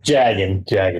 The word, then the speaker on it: Jaggin: As Sorry, Jaggin, not Jargon.